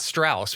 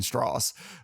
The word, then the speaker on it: Strauss: Jr as Strauss it's it's pronounced straws it's the southern way yeah yeah did I did I pronounce it wrong it's not Strauss which is how it's